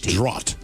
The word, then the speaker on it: draught: It is a draught but you don't spell it like the NFL draft. You spell it draught.